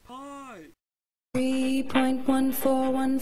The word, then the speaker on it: pi: a round well-rounded man who wrote this it's pronounced pie three point one four one five nine two